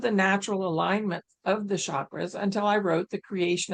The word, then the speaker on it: chakra: In Sanskrit, the language of the ancient Indian seers who first identified these energy centers, the word chakra, pronounced chakra, but I say chakra, means wheel or circle.